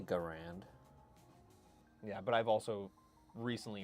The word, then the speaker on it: Garand: about pronunciation and firearms, would you say that it is a Garand or a Gurand? Because historians, as well as leaders within the firearms industry and small arms historians, will pronounce it differently. Garand or Gurand.